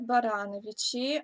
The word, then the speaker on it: Барановичи: Да, есть такой город Барановичи, ага, ударение на второе.